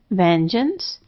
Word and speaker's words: vengeance: The first two have G as J because it's before E, and the second one has a schwad A unaccented at the beginning.